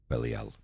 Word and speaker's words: Belial: air; the morning star, the east; Belial, correct pronunciation, Belial; Belial, Hebrew, without a master, basenness of the